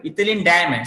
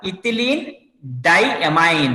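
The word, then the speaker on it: ethylenediamine: So, but when you're pronouncing that one, don't pronounce EN. You have to call that one ethylene diamine.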